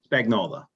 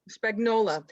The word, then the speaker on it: Spagnola: Okay, so we have Brian as your name is pronounced Spagnola? Spagnola. Spagnola.